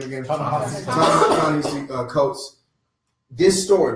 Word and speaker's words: Ta-Nehisi Coates: Ta-Nehisi Coates.